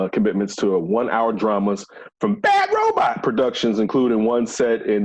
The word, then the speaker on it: Bad Robot: You can't say it like that. Like what? You got to say it like how at the end of Lost, how it always came on. Oh, Bad Robot.